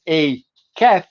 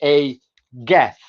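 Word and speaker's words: ei gath: So you don't pronounce it as a cat, you say a gath.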